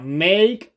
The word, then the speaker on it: make: díganlo ustedes muy bien esta e no suena make a Point y observen que esta a suena como a make a Point y